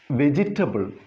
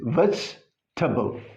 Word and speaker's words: vegetable: Then here, because of this E, it is pronounced vegetable. No, that is not there in the phonetic transcription. It is vegetable.